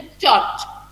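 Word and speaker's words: church: सी एच जब together लिखा जाता है तो क्या प्रोनाउंस करते हो उसको? चौ प्रोनाउंस करते हो, ह को प्रोनाउंस नहीं करते हो।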